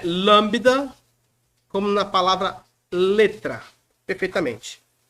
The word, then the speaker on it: lambda: a é um l representa nosso lâmbda lambida lembro daquele naquele daquele cabelo daquela pessoa que passa aquele gel aquele aquele aquela Brilhantina parece que o boi lambeu aqui é o lâmbda maiúsculo minúsculo eu faço